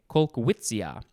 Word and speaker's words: Kolkwitzia: sure why kolkwitzia amabilis and the first word is spelled k-o-l-k-w-i-t-z-i-a colquitzia now we have beauty contest two words noun